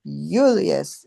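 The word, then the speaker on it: Iulius: And isn't it really that the the the first I the J is pronounced with a Y sound.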